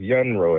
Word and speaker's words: Yunro: but now, man, I'm grown now, but it's Young Ro actually, man. Okay. Why are you in how you spell it?